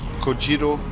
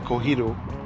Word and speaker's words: Kojiro: of Time he called kojiro he called him kohiro or like what well well I think in Spanish the J would be pronounced as an age like yeah but it's a Japanese name so what's up I